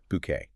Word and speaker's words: Bucket: have to remember this, insists her name is pronounced bouquet.